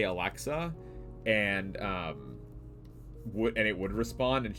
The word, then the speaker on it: Alexa: I had a friend, Nye, who called Alexa Aleska. And she could not, for the life of her, pronounce Alexa. She would always say Aleska.